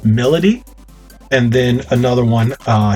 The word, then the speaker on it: Milady: you uh another one her name is spelled my m-i-l-a-d-y so i was thinking it's milady but it's melody and then another one